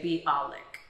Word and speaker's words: Bialik: hebrew mime is water my last name is actually supposed to be two syllables but in english we say be alec is my imbiotic is